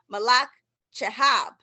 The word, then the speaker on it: Malak Chehab: for our ask the author series today miss malach chahab who is the did i pronounce it right yes you did miss malach